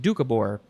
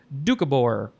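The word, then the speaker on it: Doukhobor: word is ducabor I think that's how you pronounce it dukabor it is spelled capital d o u k h o b o r or you can take out the very first o dukabor noun from 1876 a member of a Christian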